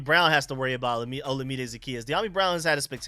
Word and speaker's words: Olamide: sure if De'Ami Brown has to worry about Olamide Zaccheaus.